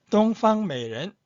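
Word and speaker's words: 东方美人: 8번 동방메이렌, 동방메이렌. 9번 우이 수이센, 우이 수이센. 이 발음 좀 어렵네요.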